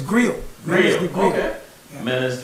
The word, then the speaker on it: Griot: Well, actually, the T is silent. Griot. So it's Griot.